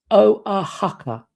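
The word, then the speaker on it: Oaxaca: Oh, it's pronounced sorry it is pronounced o a haka.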